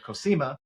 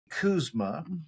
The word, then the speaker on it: Koesema: So I was calling her Koesema, but it's Koesema at R4 Retreat Center.